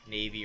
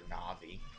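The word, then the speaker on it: Navi: name wrong a lot Navy or na'vi I pronounce it either way really oh he's blocking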